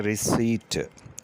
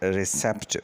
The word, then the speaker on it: receipt: हमारा अगला लफ्ज़ है रिसीट, RECEIPT, रिसीट। इसको अक्सर स्टूडेंट रिसेप्ट पढ़ते हैं, जो कि गलत है। ये लफ्ज़ है रिसीट, क्योंकि इसमें पी साइलेंट है, इसलिए हमें इसे रिसीट पढ़ना चाहिए, रिसेप्ट नहीं।